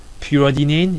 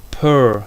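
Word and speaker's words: periodinane: Pyridinane, you may think it's a pyridinane, but actually is pronounced per-iodinane. Because you see, in the structure, you have an iodine.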